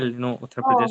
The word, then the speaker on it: Uttar Pradesh: Actually, you pronounce the name very well. Uttar Pradesh.